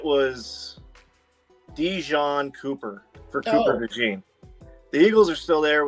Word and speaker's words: DeJean: I wrote in the chat, I said his first name is Cooper, his last name is DeJean. And then I phonetically spelt it so he could say it. And he goes, Dijon Cooper.